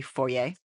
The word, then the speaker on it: foyer: walk in to the foyer or As Americans say forer okay so Canadian say foer because it is a French word that you butcher I'm sorry it's